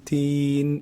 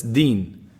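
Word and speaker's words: دين: they say maliki maliki many people they turn it to be teen and that's a big mistake because in the meaning when i say maliki o medin so we say o allah you're the king or the owner or the controller of the day of judgement but that's deen but teen means fig it's a big difference so we have to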